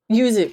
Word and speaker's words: yuzu: Yuzu, yeah. Yuzu. So yuzu. That's how you say it.